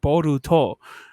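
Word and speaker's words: ボルト: It just happens to be that you pronounce it Boruto.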